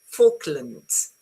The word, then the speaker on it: Falklands: Yeah, it's the first L. The pronunciation is for, as in ball, Okay, Falklands. This one is pronounced as a schwa because the stress goes on this bit. Okay, so is Falklands, not land.